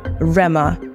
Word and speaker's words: Rema: birthed a new identity Rama r-e-m-a unburdened by the silent h that once defined him the metamorphosis was Swift